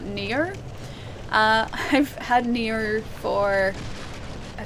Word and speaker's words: NieR: I have to pronounce this properly or else everyone's gonna think I'm saying Nia and not Nier.